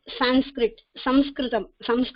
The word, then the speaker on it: Sanskritam: So Sanskritam is the proper pronunciation. Okay, Sanskrit is being given by British or so.